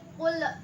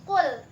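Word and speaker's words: قل: Cara bacanya itu nggak boleh kayak gitu, nggak boleh qul, harus Kul.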